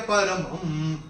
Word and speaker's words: परमं: मैंने कैसे चैंट किया था मदनुग्रहाय परमं, तो पहले चरण में म के ऊपर अनुस्वार, चूंकि चरण की समाप्ति पे आ रहा है तो इसका उच्चारण केवल और केवल म ही होगा।